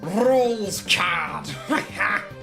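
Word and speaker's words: Rouxls Kaard: Anyway, it's pronounced rules rules card.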